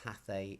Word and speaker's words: hace: Do not pronounce the H. It's not hace or hace, it's hace.